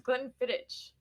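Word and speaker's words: Glenfiddich: Distillery 15year Solara blend gleni is not spelled the way it sounds because is that how you pronounce it I thought it was Glen fittit you got it right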